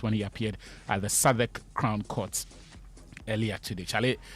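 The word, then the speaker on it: Southwark: I said young man the name is Saddak. It is not. I was like okay. So yeah uh it misspel Southwork but they say it is pronounced Saddak and so yeah that's where Thomas was earlier today.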